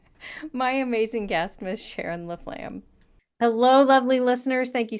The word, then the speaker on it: Laflamme: to listen to my amazing guest, Miss Sharon Laflam. Hello, lovely listeners. Thank you so much for tuning in again this week. I am so excited to introduce to you my new friend Sharon Laflam.